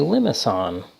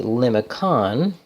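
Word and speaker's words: limaçon: that we know that we pronounce this with a soft C not a hard C if it were a hard C that would be limit on which I think is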